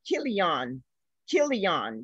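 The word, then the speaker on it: Chilion: malone and kill and kill eon yeah the c is pronounced as a k i'm told uh the definition of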